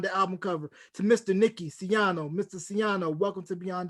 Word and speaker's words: Nicky Siano: you thank you how am i saying your name right yes sir you are pronouncing my name correctly now i appreciate you